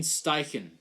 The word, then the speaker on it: Steichen: Shane Steichen. Steichen. Shane Steichen. Steichen? In German, the German pronunciation I know would be Steichen.